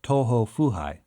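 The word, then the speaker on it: 東方不敗: In Japanese, the character's name is pronounced Toho Fuhai, and in English, it could be translated as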